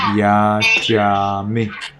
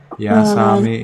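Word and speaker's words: yācāmi: Be careful, this is Sri Lanka pronunciation. So you say yajami. Okay? Yasami is Burmese pronunciation. Now we follow Sri Lanka pronunciation. Okay? So be careful, it is yajami.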